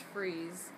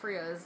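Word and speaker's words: Freas: World uh Kelly freeze I learned his last name is pronounced freeze not fras like like we originally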